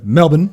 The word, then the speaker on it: Melbourne: legitimately talked to my good buddy from Melbourne, or Melbourne is how it's pronounced. Melbourne.